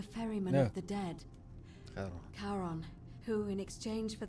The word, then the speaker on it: Charon: It's just as you described it, only your pronunciation is a little off. The name you heard wasn't Karen. It was C-H-A-R. No, it's not. I said that before. It's not. Charon, the ferryman No.